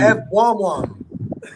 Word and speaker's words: Evbuomwan: Anybody know how to pronounce it? Tosan Evbuomwan.